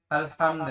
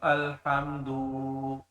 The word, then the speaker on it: الحمد: کہتے ہیں غلطی کو۔ اب جیسے کہ الحمد ہے، ہا ہے، اب ہا کی جگہ ہا پڑھ دیں، گول ہا جو ہوتا ہے، جیسے کہ یہ ہا ہے، اس کو پڑھ دیں، یہ غلط ہے۔ ہم الہم، اس سے